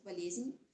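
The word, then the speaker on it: болезнь: we use to call unices and it is pronounced as valezin so the core part of the slot means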